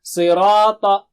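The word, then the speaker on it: صراط: Sirata. Si is very thick and high. Si. And Ra is thick. This is thin, this is thick. Ra and Ta, very thick and high.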